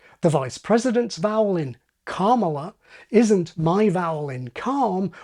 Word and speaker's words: Kamala: And it also seems that Alistair was paying attention to Rory's new improved pronunciation, as we heard at the start of this video. Kamala. Again. Kamala.